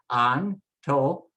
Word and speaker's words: Antonio: Let's pronounce the vowels so you can hear the sounds first. A, O, E, O. A, O, E, O. And now just drop the consonants in, and it becomes Antonio, Antonio, Antonio.